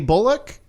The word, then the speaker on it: Bullock: He said "Ock" as in cock, not "ick" as in dick.